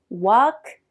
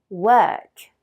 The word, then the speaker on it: work: Beaucoup de Français disent walk ou work. Mais attention, ici le son anglais n'est pas comme le O français. C'est plutôt work.